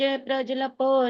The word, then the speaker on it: प्रजल्पो: प्रजल्पो, प्रजल ऐसे बोलेंगे ना जल्दी से तो जो आधे की उच्चारण आएगा, इसलिए उसको पूरा बोलना है। तो प्रजल्पो, प्रजल्पो, ज की भी आवाज पूरी आ रही है।